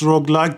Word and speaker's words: roguelike: Yeah, Roguelike. exactly. But I keep saying road. It's roguelike.